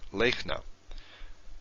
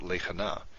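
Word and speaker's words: לֵכְנָה: Lechna. Now the way you pronounce this is like I just said, lechna, not lechana.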